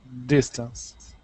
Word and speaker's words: distance: for me for example distance okay distance does stress is on the first syllable two syllables dis okay first syllable stress distance distance distance yeah